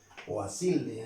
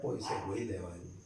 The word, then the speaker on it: Poiseuille: conocida hoy en día como ecuación de Poiseuille en los franceses. Para nosotros sería Poiseuille. En español se pronuncian las palabras tal como están escritas.